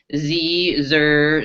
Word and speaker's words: xe: SS we're seeing is z Zer zers Z here and hears and Z ZZ spelled with x e xem and XY RS I